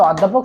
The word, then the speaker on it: অধ্যাপক: এটির সঠিক অ্যানসার হচ্ছে অকিঞ্চন পরবর্তী এমসিকিউ হচ্ছে অধ্যাপক শব্দের অ এর উচ্চারণ কেমন অর্থাৎ এটি তোমাদের হচ্ছে এর অংশ